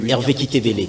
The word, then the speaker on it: Hervé Kitebele: Allez, Hervé Kitebele, je prononce bien votre nom, j'espère? Oui. Hervé Kitebele.